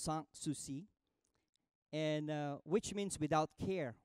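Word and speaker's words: Sans Souci: himself a place a palace that he called sang-soo see it spelled s ans s oh you see I it pronounced San Souci and which means without care without worry but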